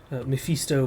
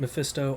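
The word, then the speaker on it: Mephisto: uh antagonists of the Diablo Universe this is misto but in Disguise other people pronounce it mefisto I am aware I've just mentally pronounced it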